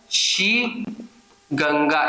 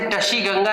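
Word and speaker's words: Tashigang: नाम ऐसे लिखते हैं शी गंगा, इसे टशी गंगा नहीं पढ़ेंगे, शी गंगा पढ़ेंगे, ट साइलेंट रहेगा, शी गंगा, ये इंग्लिश का वर्ड है।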